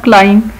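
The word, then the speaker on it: climb: इसी तरह क्लाइम, जो पहाड़ पे चढ़ना, दरख्त पे चढ़ना क्लाइम कहलाता है, इसमें साइलेंट है बी।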